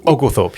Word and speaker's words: Oglethorpe: colonies, the types of things that happen once Oglethorpe. How am I saying it wrong? Oglethorpe, yeah.